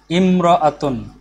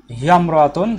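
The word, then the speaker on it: امرأة: Imra'atun.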